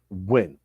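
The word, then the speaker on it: Nguyen: that is a Vietnam Vietnamese name and it's pronounced when okay correct Gavin so I explained to him I said that win play for the Dallas Cowboys linebacker number 59.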